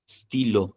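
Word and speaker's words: stylo: তারপর হচ্ছে বাট এখানে আপনার এটা হচ্ছে ই এর মতো উচ্চারণ হবে, ই, ই, লো, স্টিলো। স্টিলো।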